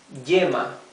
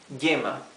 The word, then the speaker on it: yema: So here, letter Y is followed by a vowel in the same word, okay? So it's y, yo, yema, yeska. Yeska is tinder, to light a fire, okay? Yeska. Okay, so it's not this E sound. It's not yema, it's yema. It's not yeska, it's yeska.